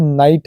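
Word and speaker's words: night: लेकिन टी जुड़ गया है लाइट है जी साइलेंट टी पढ़ रहे हैं वैसे ही नाइट है फाइट है माइट है ब्राइट है कॉट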